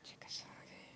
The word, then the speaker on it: Chickasaw: Chickasaw.